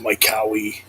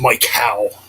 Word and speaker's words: Mike Howe: church and heretic with Mike ho or Mike there I go again with st hoe with Mike how you know the late